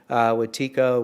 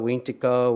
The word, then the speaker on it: Wetiko: It's pronounced in different languages slightly different. Wetiko, Wintiko, Windigo psychosis.